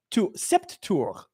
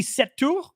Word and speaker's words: Sept: And they were pronouncing it Sept Septur, like pronouncing Set with the P.